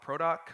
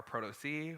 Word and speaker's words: protoc: out of the box called product or proto c however you prefer to pronounce it and what we